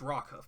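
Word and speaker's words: Rockhoof: story about did I say his name it's rock Huff by the way it's rock Huff Mist man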